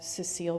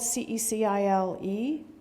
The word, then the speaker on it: Cecile: under the spell of Cecile Brunner roses. Now, correct me if I'm wrong. It's spelled C-E-C-I-L-E, Cecile. That's Cecile. That's a woman. That's not Cecil. That's Cecile.